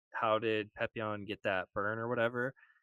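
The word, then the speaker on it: Papillon: And Even with is it Pepion? Is that how you pronounce his name? Pepion? He's like the guide. Pepion, yeah, yeah, Yeah.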